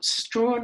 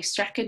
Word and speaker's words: Strachan: Douglas Strachan, or Strawn, I've also heard it pronounced, but I think the Scottish say Strachan.